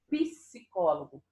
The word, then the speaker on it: psicólogo: Tá vendo que eu escuto o P e o S? Mesmo que a pronúncia, às vezes, seja um pouco diferente. P, mas quando eu pronuncio, psicólogo. Mas o som é do P e o som é do S, certo? Eu escuto os dois sons.